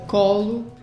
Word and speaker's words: Colo: portugais, on prononce colo.